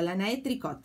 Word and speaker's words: Lana et Tricot: Lana et Tricot, pero todo así junto, Lana et Tricot se escribe.